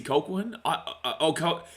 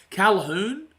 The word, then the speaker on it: Colquhoun: I think it's Jesse Colquhoun. Calhoun, maybe? I don't know. That's, I'm pretty good with pronunciations. I think the commentary says Calhoun. It looks like Colquhoun, but I'm pretty certain commentary calls him Calhoun.